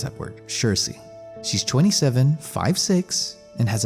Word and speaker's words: Saoirse: But I decided to go with Saoirse Ronan. Yes, that's actually how you pronounce that word, Saoirse.